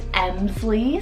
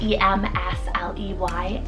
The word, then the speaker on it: Emsley: On the girls' side is Emsley, spelled E-M-S-L-E-Y, Emsley.